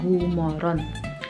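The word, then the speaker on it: god morgon: Kalau bahasa tulisannya good morgon tulisannya, tapi kita bacanya gumoron.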